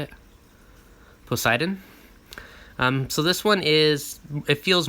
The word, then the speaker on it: Poseidon: Poseidon.